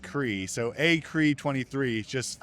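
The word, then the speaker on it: Kriegh: Last name is pronounced CRE.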